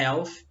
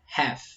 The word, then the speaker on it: half: Não é half, não é health, é half. Half.